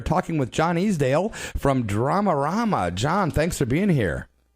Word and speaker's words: Dramarama: It's DRAMARAMA.